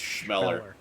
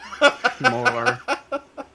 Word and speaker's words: Chmelar: Fanny Schmeller. It's spelled Chmelar, but pronounced Schmeller. Schmeller. Emphasis on the schma.